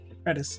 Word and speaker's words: Redis: like um well red I think it's called redus or Reus I'm not sure but redis is how I pronounce it at least it is redis yeah anyway um yeah